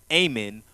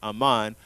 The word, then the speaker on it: Haman: But also there's an enemy to Israel and Mordecai, a man named Haman, also called Ahman, or some people pronounce it as Ahman, Ahman in other translations such as throughout the Apocrypha.